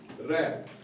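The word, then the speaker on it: wrap: डब्ल्यू आर ए पी रैप इसको वफ नहीं पढ़ते हैं आर से पहले डब्लू है इसीलिए डब्ल्यू आर एस T wrist वृष्ट नहीं पढ़ते हैं क्यों आर से पहले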